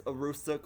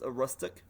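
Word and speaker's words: Aroostook: New Brunswick, Canada also tell me if it's Arustuk or if it's arustic.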